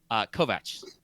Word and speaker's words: Kovac: Or willing, is Phillips Kovac. And yes, that's the correct way to pronounce that. It's not Kovacs. Kovac.